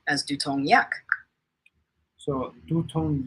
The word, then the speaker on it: 두통 약: One, tutong should be pronounced as dutong with a clear D sound, not tu. 두통 약을. Two, yak should be pronounced as yak, not yagul. Try saying tutong yak as dutong yak.